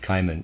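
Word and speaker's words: Cimon: you just one example caiman i'm going to pronounce that caiman c-i-m-o-n a well-known historical figure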